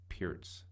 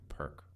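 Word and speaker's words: Pirc: Looking in the Perk Modern opening, but you know, I understand that the actual opening is supposed to be pronounced the Peart's opening rather than the Perk opening, which is a difficult thing for me because I've been calling it the Perk forever.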